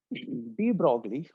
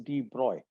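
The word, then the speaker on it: de Broglie: But D brogley or the correct pronunciation is D bro.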